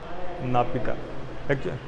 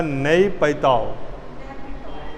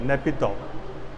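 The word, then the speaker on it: Naypyidaw: नापिता, actually उच्चारण है उसका नई पैताओ, हाँ नेपिताओ, ठीक है ना।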